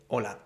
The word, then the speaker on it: hola: on those sentences and remember the H at the beginning of a word in Spanish is always silent same as when you say hola nobody really says hola right it's really important